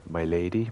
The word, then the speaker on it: Milady: It's called My Lady, but it's spelled Milady.